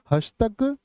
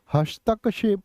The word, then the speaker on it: हस्तक्षेप: होता हस्तक्षेप होता है क्या होता है हस्तक क्या बोलोगे हस्तक्षेप होता है हस्तक्षेप हस्तक्षेप नहीं बोलोगे इसको कभी भी हस्तक्षेप आपका टीजीटी एग्जाम में